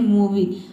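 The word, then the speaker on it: movie: अंत में IE आया है और यहाँ पे इसको हम ई पढ़ते हैं। ठीक है, तभी इसका प्रोनाउंसिएशन बनता है मूवी।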